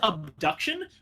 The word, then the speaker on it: Obduction: I would pronounce it as abduction, but then you would think it was actually spelled abduction, but it's spelled with an O.